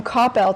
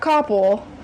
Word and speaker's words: Coppell: And I would like you to pronounce the city and high school where you are from. I am from Coppell, Texas, not Coppell.